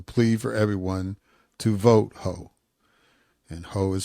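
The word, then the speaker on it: Heaux: ended with a plea for everyone to vote Hough. And Hough is spelled H-E-A-U-X.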